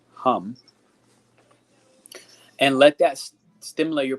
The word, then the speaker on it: HAM: should have type this it's pronounced hum and let that stimulate